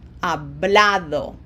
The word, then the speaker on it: hablado: No graphic accent, it ends in a vowel, O, therefore emphasis is on this second syllable and it falls right there on the A. So it's hablado.